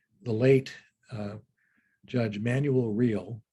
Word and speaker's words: Real: late uh judge emanuel real although it's real he pronounces it and uh been on